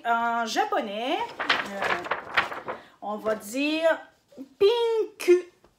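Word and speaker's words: ピンク: Donc, en japonais, on va dire pinku. Pinku. Et on va prononcer le U.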